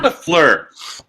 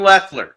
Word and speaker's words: Leffler: Sean LaFleur. Rod. Now, Sean LaFleur is going to be where tomorrow? Ted? With your fight gear? Sean Leffler? Yeah. I said it wrong. Sean Leffler.